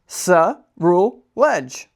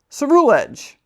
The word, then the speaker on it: Ceruledge: Ceruledge. Ceruledge. An old set of armor, steeped in grudges, caused this Pokemon's evolution. Ceruledge cuts its enemies to pieces without mercy.